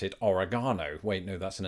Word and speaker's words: Oregon: I always pronounce it Oregon oh wait no that's an entirely different video I always pronounce it Oregon Oregon R again I'm just repeating it until you convinced now